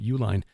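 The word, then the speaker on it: Uihlein: oh I didn't I didn't realize that the Uline family yeah it's it's not spelled like the company UL i n it's but it is that's how you pronounce their name Uline according to the the stories this group of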